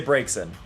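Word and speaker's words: Braixen: Um to me, it's Brazen. Like I it's a combination of Braze and Vixen.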